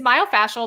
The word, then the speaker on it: myofascial: she said I get is myofascial the right way to say it yeah my so she said